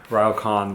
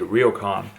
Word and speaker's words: ryokan: Another amazing dinner here at our ryokan, which we've been mispronouncing. It's actually ryokan.